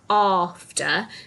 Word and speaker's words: after: So this word is tricky because it's got that R sound with the letter A. Okay, so it sounds like after, but it's spelt A-F-T-E-R.